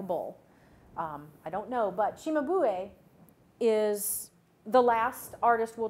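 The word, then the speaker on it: Cimabue: will move to, this artist's name is properly pronounced Chimabu, or Chimabue. It means bull's head. I don't know what he looked like. Perhaps he had a head shaped like a bull. I don't know, but Chimabue is the last artist we'll talk about in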